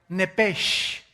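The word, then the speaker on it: נפש: Biblia esa palabra alma es la palabra hebrea nepes así como suena n e p e s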